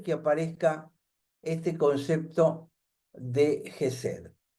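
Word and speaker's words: חסד: H e s e ded la h es sonora, no es una h muda como en castellano. Es una J muy fuerte, es muy cultural. Jes sería la pronunciación.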